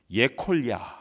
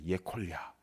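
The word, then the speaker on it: יכליה: 인가 뭐 이런 생각했는데요 히브리어로는 예 콜 야 라고 발음합니다 예 콜리 야 근데 그 이름의 뜻이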